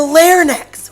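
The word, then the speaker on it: larynx: produced in the throat it's produced in the layer necks which is spelt lk r and x claire necks that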